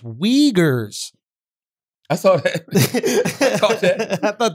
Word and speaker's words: Uyghurs: want to be black in china oh it's pronounced wiegers i saw it i thought that wasn't good